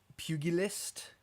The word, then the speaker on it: pugilist: But yes, I wanted to give some acknowledgments to help me get pugilist.